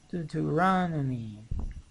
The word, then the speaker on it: Deuteronomy: Do to raw. This is the stress. Deuteronomy. Deuteronomy. Deuteronomy. Deuteronomy. Deuteronomy. Right. This is the law books, right? Those are the law books. Genesis, Exodus, Leviticus, Numbers, Deuteronomy.